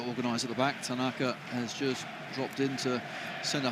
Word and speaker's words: Tanaka: CLE here we're getting dramatically conflicting advice on pronunciations for out Tanaka Tanaka so we are back on Tanaka Tonight Tonight Tanaka um so to the small